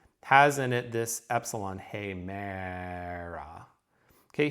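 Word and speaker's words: ἡμέρα: Okay, here the long hey, that's an eta, short meh, and then the alpha here sounds to us like an English long vowel. It's actually a short vowel, but hemera, ah.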